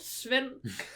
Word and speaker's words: Svend: But definitely not like, if you look at it, that's not how you say it. And that's not how we spell it today. It's just what I'm meaning. Like it's SVEND. Sven.